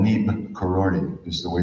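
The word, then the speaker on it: Neeb Karori: I just went to, he got his name from this village called Nib Karori, is the way it's pronounced there.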